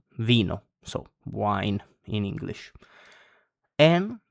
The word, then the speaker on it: vino: So I, the English I, it's pronounced E in Italian, like in the word vino, so wine in English.